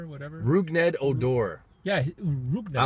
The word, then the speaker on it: Rougned Odor: Or what about like how do you pronounce that guy's name? The guy that threw a punch at Bautista last year, Roughneck Odor, or whatever. Rougned Odor.